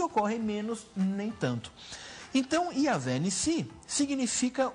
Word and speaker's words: Yavé Nissi: É assim que se pronuncia também? Yavé Nissi, isso mesmo.